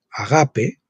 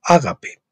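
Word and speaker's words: ἀγάπη: en griego en realidad si lo pronunciamos en griego sería agape y no ágape los dos últimos se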